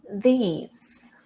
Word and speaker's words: these: These. Your tongue in between your teeth at the beginning. These. And the Z sound at the end.